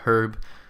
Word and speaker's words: herb: In the United States it actually is pronounced herb, and in the UK it's pronounced herb.